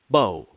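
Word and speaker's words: beau: probably had a bow bao means handsome in french pronounce it the same way the french do with a long o bow the word recalls more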